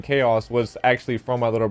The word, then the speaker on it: K-Aus: No, I thought it was K-Aus because obviously it's Auslander, so I was like, okay, K-Aus.